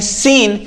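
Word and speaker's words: scene: सीन। एस के बाद सी आया लेकिन सी का कोई मतलब नहीं हुआ।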